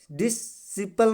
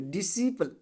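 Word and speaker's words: disciple: बाद सी आया है अब इसको डी डि सपल नहीं पढ़ेंगे डिपल डिपल डिपल ध्यान से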